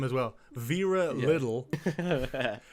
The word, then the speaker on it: Liddell: Vera Little. It's Liddell, but we're pronouncing it Little.